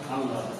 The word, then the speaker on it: আল্লাহ: বাতিল করে দিয়ে ল কয়বার উচ্চারণ হবে? দুইবার উচ্চারণ হবে। তাহলে উচ্চারণ হয় আল্লাহর।